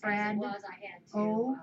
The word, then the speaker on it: Fredo: It's spelled Fred O, but it's pronounced Fredo.